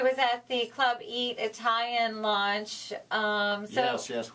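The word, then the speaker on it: Eataly: uh Club Italian in well you say Club Italian I want to be sure our audience knows it's spelled e a Italian capital e capital E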